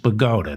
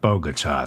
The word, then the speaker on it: Bogota: And it's pronounced Bogota, not Bogota.